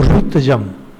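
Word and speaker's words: ऋत्विजम्: Now, Ritwijam is again, there is Ri, as in Rig Veda. The term is known as Ri. Ri is, if you write, is R-U-I. Ri. Pronunciation is actually Ri. But this pronunciation being very difficult, South Indians and Maharashtra pronounce it as Ru. You will see Amrut. And North Indians took the last part, Amrit. But actual pronunciation is very complicated, Ri.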